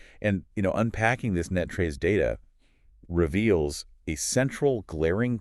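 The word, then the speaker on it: NTREIS: way for anyone new to the area is pronounced locally as Net Trace. Oh yeah. Netrays is definitely the subtle shibth for anyone operating in the North Texas real estate ecosystem.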